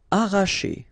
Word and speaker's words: arracher: Arracher, okay, don't pronounce the double R, sorry, it's just like if you would have only one, arracher, arracher.